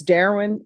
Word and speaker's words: Darren: All right, Miss Ferguson, on this case, if you can recall it in 30 days, it's Darren Johnson. Am I pronouncing your first name correctly? Darren, your honor.